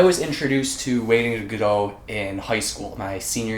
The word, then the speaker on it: Godot: you've seen my earlier review, I used to pronounce Godot, but I've recently been told that the author himself pronounced it Godot.